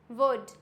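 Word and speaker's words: would: For example कुड, क्या हो जाएगा? कुड। यहाँ पे क्या है? डी से पहले है तो क्या हो जाएगा? Silent. कुड, वुड, शुड। Clear हो गया? यहाँ पे सब में क्या है? डी से पहले है और डी से पहले होता है तो ये हो जाता है साइलेंट।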